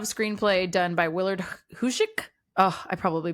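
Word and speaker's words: Huyck: that but that guy huy c k hoik that feels right if it were h y I would say hiu but it's it's not well it's the Y CK that's supposed to be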